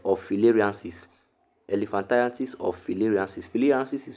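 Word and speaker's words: filariasis: Fyianis is spelled f i l a r i a s i s is caused by kullex mosquito.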